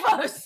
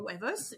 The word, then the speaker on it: huevos: Oh, huevos. Oh, huevos. It's spelled with an H.